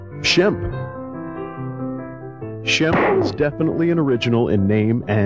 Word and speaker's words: Shemp: for Halloween isn't it Sam's european-born mother had trouble pronouncing his name when she said the name it came out sounding something like Shemp Shelby is definitely an